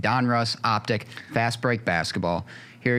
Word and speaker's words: Donruss: 2122 Panini Donruss see I said it right Donruss optic fast break basketball here you're going to